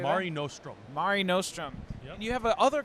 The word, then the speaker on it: Mare Nostrum: Mare Nostrum.